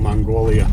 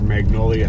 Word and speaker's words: Magnolia: Paul streets too yeah best one being Mongolia yeah you pronounce for Magnolia magolia was yeah